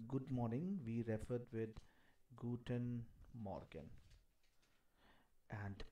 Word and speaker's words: Guten Morgen: We referred with Guten Morgen. And pronunciation is Guten Morgen.